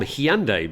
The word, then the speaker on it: Hyundai: Hyundai becomes the world's third largest car maker. Now, I'm much more confident with my pronunciation of Hyundai because when I was working